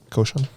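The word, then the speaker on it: Rochon: Koshan? She's really good. Roshan.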